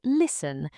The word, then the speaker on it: listen: And listen, the T is silent. Listen, not listen.